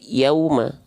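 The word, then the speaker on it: يوما: apa maju bibirnya ya biar enggak jadi Yauma tapi Yauma Nah ya saya tulis ya jadi pastikan dia mm maju mulutnya monyong mulutnya muncung mulutnya ya Jadi kalau saya izin Contohkan seperti ini teman-teman sekalian ya izin ya Nah seperti ini pastikan maju Yauma Yauma Yauma jangan sampai Yauma Yauma Nah itu gara-gara kurang monyong wwya kurang sempurna ya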